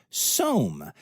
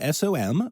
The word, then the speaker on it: SOM: Cheyenne Mountain Zoo did send their tree roo to Denver, but they have gotten SOM, spelled S-O-M, but it rhymes with Rome.